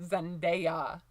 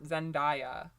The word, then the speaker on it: Zendaya: And one more time, it's pronounced Zendaya. Like, A-ya, not Zendaya.